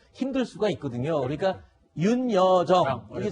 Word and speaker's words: 윤여정: 그러니까 윤여정 이게 잘 발음이 안 돼서 여여정 또는 그냥 편하게 정 이렇게 불렀었나 보군요.